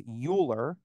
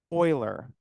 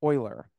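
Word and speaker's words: Euler: to pronounce that word I said the common mispronunciation is uler recall what is the correct way to pronounce that Oiler Oiler okay so I want to talk about the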